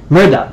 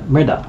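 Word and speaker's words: Mehrdad: r b a d r d a d Murda Murda yes Mur okay got it okay thank you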